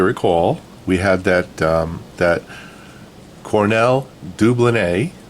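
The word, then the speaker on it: Cornell Dubilier: we had that that Cornell deublin a I said it right a few people corrected me and that's a French word so that's the right way to say at Cornell deublin a and we had that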